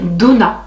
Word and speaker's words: Donna: la prononcer, mais c'est Donna. Je pensais que c'était Odona, mais en fait non, c'est Donna avec 2D, O, 2NA.